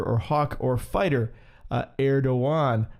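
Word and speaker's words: Erdoğan: hawk or fighter uh erdoan as it's pronounced or erogan as as we would say maybe in our own uh English language but now here this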